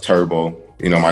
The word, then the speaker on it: TurbSkee: this okay uh so my clothing line is pronounced turbo you know my name